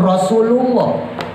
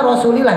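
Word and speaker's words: رسولِ الله: Padahal harusnya Rasulillah. Ini saya beri contoh kecil aja. Ustadz gede. Ibu-ibu paham tapi saya kasih tahu. Nanti barangkali terketemu sama ustadz itu. Itu ada ustadz bacanya ila hadratin Nabi Mustafa Muhammadir Rasulullah. Harusnya dibaca Rasulillah. Kenapa Rasulillah? Karena huruf jer ilah.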